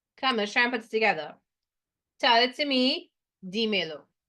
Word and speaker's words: dímelo: Tell it to me, dímelo, right? And an accent on the I to hold the stress.